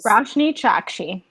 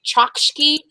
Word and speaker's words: Roshani Chokshi: of wishes by rashne chaki that's how you pronounce it y'all rashne chaki yeah I kept wanting to say chakki but Chi ch ch ch yeah okay that